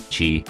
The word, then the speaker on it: qi: They believed that the human body was filled with and animated by an invisible life-giving force which they called qi, pronounced qi, and when the qi was flowing well and